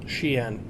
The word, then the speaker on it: Xi'an: Pasta, for the clarification on the pronunciation of Xi'an. Xi'an.